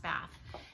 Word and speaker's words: Bath: And it is pronounced Bath.